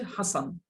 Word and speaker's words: হাসান: যেমন আমার নাম হচ্ছে হাসান। কয়টা সিলে লাগে বলেন তো? আর কেউ দুইটা দুইটা স্যার না। একটাই স্যার। আমি একজন আর এমনি হাসান শব্দের উচ্চারণের মধ্যে দুইটা সিলেবেল আছে।